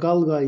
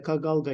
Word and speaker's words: kalgay: kag kag kalgay yazmış bazı metinlerde kalgay şeklinde yazıyor kalgay ya da kag alga ya da kagıda farklı telaffuzları da varmış kala gibi arkadaşlar ya da kag kalya tarzı yani demek şives olarak değişik Eee okunuşları ve yazılışları olabiliyormuş Eee kal gayla ya da kagg la arkadaşlar Kırım hanlığında vaha verilen